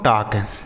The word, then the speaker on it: talk: TALK इसे पढ़ा जाता है दोस्तों टाक। TALK टाक। इसे टाल्क नहीं टाक पढ़ेंगे। यहाँ जो यल लिखा है यह साइलेंट होता है, इसको नहीं पढ़ा जाता है।